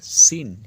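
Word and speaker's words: scene: অর্থাৎ বিজ্ঞান তারপর আছে সিন এস সি ই এন ই দেখো এস এর পরে যে সি এর উচ্চারণ নেই তাই এস এর পরে ই এখান থেকে উচ্চারণটা হচ্ছে সিন অর্থাৎ দৃশ্য একই রকম কায়দায়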